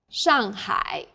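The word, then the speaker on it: 上海: The pronunciation for the famous city Shanghai is 上海， the first syllable here is made of an initial 诗， and a final 昂， and a fourth falling tone.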